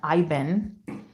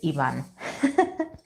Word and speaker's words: Ivan: Hello, Ivan or Ivan. If we want to get the white pronunciation. The white American pronunciation, Ivan. In Spanish is Ivan.